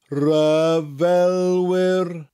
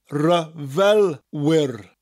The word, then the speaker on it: ryfelwyr: Ai gwrol ryfelwyr. Ai gwrol. Gwrol. Ryfelwyr. Ryfel. Rhymes with fel. Wyr. Ryfelwyr.